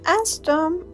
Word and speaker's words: استم: And استم has two syllables. As Tom.